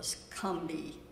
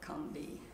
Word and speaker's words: Combahee: The river is called, it's spelled like Combahee, but they, in South Carolina they call it the Scumbee, so I'm going to call it the Combee.